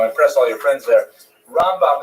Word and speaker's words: Rambam: Rambam is pronounced with the emphasis on the first syllable, Ramb. And Ramban is pronounced with the emphasis on the second syllable, Rambam and Ramban.